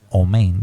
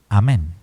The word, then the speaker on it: amen: ahí viene la pronunciación o mein de los de los judíos askenazíes los judíos sefardíes pronuncian amen asi amen entonces entre los